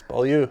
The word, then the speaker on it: Beaulieu: I go, nope, and he says his name wrong too. It's Beaulieu.